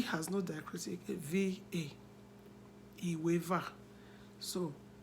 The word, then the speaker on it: Iweva: And that 12 is spelled, Iweva is spelled as I-W-E. The E has no diacritic, V-A. Iweva.